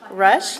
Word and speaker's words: Rusch: Rush.